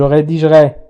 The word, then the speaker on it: rédigerai: كذلك je rédigerai نقول je rédigerai.